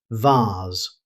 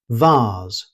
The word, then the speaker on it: vase: In British English, you'll commonly hear vase. It rhymes with cars rather than face, so vase.